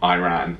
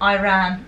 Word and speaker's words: Iran: Firstly, I'm from the UK, but secondly, it's Iran. It's not Iran. Iran. That's so annoying. It sounds like the word irate.